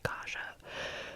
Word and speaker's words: Kaja: Kaja K AJ a I got someone pronounce or commenting kha so kha Kaja you have permission to